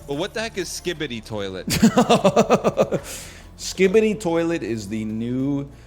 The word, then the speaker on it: Skibidi Toilet: Skibidi Toilet, yeah.